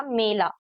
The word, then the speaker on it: मेला: यहां पे है मैला तो दोनों के आप देख सकते हो प्रोनाउंस करने का तरीका थोड़ा डिफरेंट है एक है मेला और एक है मैला पहला तो एक में हम लोग ए पढ़ रहे हैं और एक में ऐ।